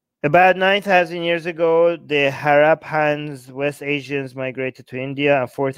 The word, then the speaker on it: Harappans: The West Asian migrants were the Harappans, pronounced Harappans. Ha! They rap in their pants. Okay, I'm going to remember it like that. Think rapper with the A when saying, okay, Harappans. Okay, Harappans.